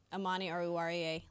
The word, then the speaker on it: Amani Oruwariye: I'm going to go A.O., Amani Oruwariye.